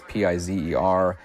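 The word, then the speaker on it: Pizer: I would like to point out there were two cinematographers on this film, Gerald Turpin and Larry Piser. I'm pronouncing that correctly. It's Pi Izzer.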